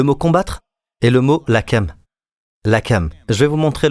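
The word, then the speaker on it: לחם: Le mot combattre est le mot lakam. Lakam. Je vais vous montrer le mot lakam. Lakam s'écrit comme suit. De droite à gauche, c'est de l'hébreu. Lamet, het, mem.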